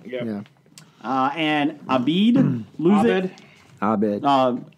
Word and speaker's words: Abed: Abed. It says A-B-E-D. Yeah, Abed.